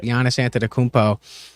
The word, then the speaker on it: Giannis Antetokounmpo: Giannis Antetokounmpo.